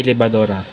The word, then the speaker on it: libad: sa pangatlo ang libad ang tamang pagbikas nito ay libad ito ay nangahulugan na